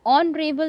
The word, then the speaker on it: honorable: We also write an honorable man, since O is pronounced as O, a vowel sound.